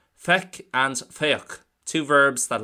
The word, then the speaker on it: feic: Well, firstly, Feic, for see, is pronounced as so, Feic, and it is an irregular verb, so we can't really base too much off the root.